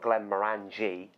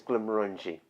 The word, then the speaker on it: Glenmorangie: is if you've had a few it's not Glenmorangie or even Glenmorangie I've not actually heard anyone say that what the correct pronunciation is Glenmorangie and maroon G is if you've had a